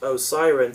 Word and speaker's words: Osiran: Apparently, Sutek's race is pronounced Osiren throughout the serial. The scripts and publicity material spelt it as Osirian in some places and as Osiran in others.